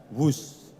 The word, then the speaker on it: Whoosh: operasi optimal sistem hebat sekali lagi w h o o s h tapi membacanya wus kereta cepat Jakarta Bandung